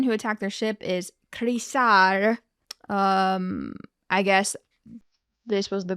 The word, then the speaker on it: Chrysaor: A name that looks like Chrysaor is Harisar with an H. I'm going to pronounce it Chrysaor with a CH.